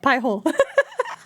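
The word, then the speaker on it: Pi-hole: With the language with the language that we come from, it sounds like pee hole, like it's something that you're that you're peeing in. But if I'm thinking of the English pronunciation, yeah, pie hole.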